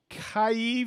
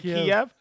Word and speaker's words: Kyiv: where you're from because you know I can't pronounce them, all right, you ready? Here we go. Auburn, Alabama. Kyiv, Ukraine. Minnie, is that right? Is that Kiev?